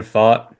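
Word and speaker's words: Pfaadt: Gallen Burns Kelly rrod um how do you pronounce that name again Brandon Brandon fought Brandon fought yeah uh I had some trouble with that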